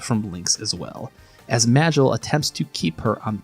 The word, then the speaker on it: Magil: The shadow magician, Magel, a strong and silent mage who I will be pronouncing as Magel because if I say anything too close to Maggle, it's going to become Jon clock up in here.